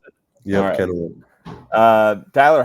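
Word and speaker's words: Kennewick: Washington uh Kenwick Kenwick is that how we pronounce it yeah Kenwick uh Tyler how does it feel to be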